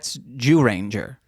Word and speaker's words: Dairanger: Well, no, that's Dairanger. They take. Whoa! Fucking watch your mouth, dude. No, why does everyone do that? That's how it's pronounced. It's spelled ZYU. Yeah, it's more like Dairanger.